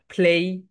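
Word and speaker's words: play: মুখ থেকে প্লেটা বাদ দিয়ে দাও, প্লে হচ্ছে রং প্রোনাউন্সিয়েশন, বলো প্লেই, প্লেই, will you প্লে with me, will you প্লে with me, ইয়েস I will, yes I will.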